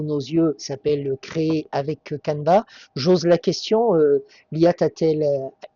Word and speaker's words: Canva: Très bonne question déjà pour la prononciation. C'est Canva officiellement c'est un outil australien.